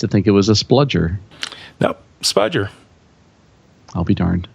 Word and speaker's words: spudger: a couple of them are apparently um I mispronounced the word spudger which is a pry like a plastic pry